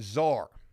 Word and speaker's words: czar: Hey, Mikey says the C is silent. Thank you for letting me know that. Czar.